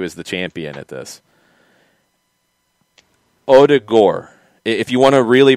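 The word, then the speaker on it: Ødegaard: struggling to get it the end is gore like like al gore the d is like d like dip and then the o is kind of like the german oh with like a like like odigor and the the accent is on the o yeah and i'm not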